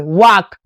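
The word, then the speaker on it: walk: वाक क्या पढ़ेंगे?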